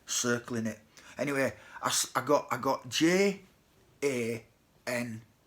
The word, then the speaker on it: Jan: twig at first, but J's in German and Poland, they'd actually pronounced Y, so it wasn't Jan, it was Jan, but I didn't get